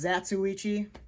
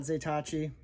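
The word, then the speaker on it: Zatoichi: done something wrong and then he put out zaitachi i now know it's pronounced zatsuichi and not zatachi but um what can i say i'm a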